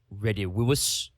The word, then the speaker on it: Redivivus: It would actually be Redivivus, because the V's are pronounced that way.